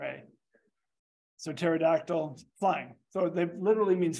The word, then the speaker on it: pterodactyl: Tara all right um with a P with a silent p p t e r a so pterodactyl flying so that literally